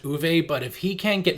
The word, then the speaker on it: Uwe: And I know his name is pronounced Uwe, but if he can't get movies right, I won't get his name right.